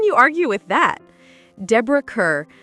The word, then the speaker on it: Kerr: Deborah Kerr, whose last name pronunciation, she insisted, rhymes with star, illuminated the big screen with a rare talent.